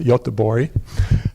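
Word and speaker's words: Göteborg: outside of Gothenburg Sweden they pronounce it yacht de bourree so we were very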